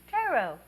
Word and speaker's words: tarot: two understanding the tarot tarot it doesn't rhyme with carrot some basics before we